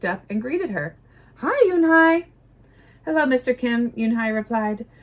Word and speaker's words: Unhei: Yes, it's pronounced Yunhai, and it means grace, Mr.